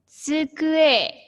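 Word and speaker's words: つくえ: Nah, meja bahasa Jepangnya adalah tsukue. Sensei eja saja. T S U K U E. Jadi pengucapannya tsukue.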